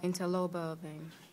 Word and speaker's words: interlobar: Interlobar vein. Interlobar vein. You see, be careful. It's not interlobular. Interlobar, you spell it wrong a little bit. One letter here, gone.